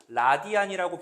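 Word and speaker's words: radian: 그 중심각의 크기를 우리가 이제 뭐라고 표현하냐면 1 라디안이라고 표현해요. 1 라디안. 라디안. 영어로는 RAD라고 이렇게 씁니다. 1 라디안이라고 읽는데 각도예요, 각도.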